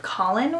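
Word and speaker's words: Kahlen: love I think that her name is Kailyn but they pronounced it Colin which is kind of weird so what in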